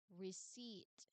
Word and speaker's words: receipt: Now, this is also a tricky when it comes to pronunciation because you say it as receipt. Again, the word is receipt. Again, the word is receipt.